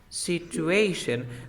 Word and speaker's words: situation: How did she pronounce this word? Situación in English? Situation. Situation.